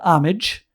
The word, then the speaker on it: homage: That's a Chris Reeve homage. Isn't that cool? Homage. Maybe in the UK they pronounce the H, but over here in America we don't pronounce no H's.